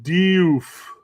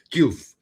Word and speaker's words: Diouf: You don't hear the E for very long when the English pronounce it. They just ramble right through that. El Hadji Diouf. It's so you barely hear the probably E. Is more of a doof, yeah, right?